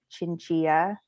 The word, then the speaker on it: Chinchilla: name is uh chinchilla uh pronounced like tortilla i am also part